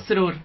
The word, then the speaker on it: Srur: ¿Cómo se pronuncia tu apellido? Zurdur.